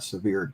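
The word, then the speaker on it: Sevier: would have been a severe County Medical Examiner um it would what county sever County s v i e r yeah okay I did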